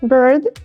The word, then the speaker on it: bird: вами вже спробували прочитати Bird - це пташка А beard - це борода Bird Be вимова схожа але різниця в одному звуці може змінити все Тож як сказати правильно